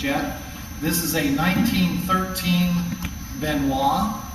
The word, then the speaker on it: Benoist: this is a 1913 benois I know it says Benoist on there but uh it's pronounced benois this was built in